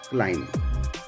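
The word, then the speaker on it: climb: bomb फिर उसके बाद हम बात करते हैं क्लाइम सी एल आई एम बी कॉम सी ओ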